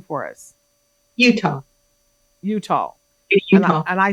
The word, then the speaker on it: Uttal: think I said your name I pronounced your name wrong earlier say your last name for us Utah Utah and I said Utah so it's so